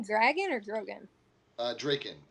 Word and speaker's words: Draken: dragon or grogan uh draken i'm assuming because because it's d-r-a-k-e-n is taken so it rhymes if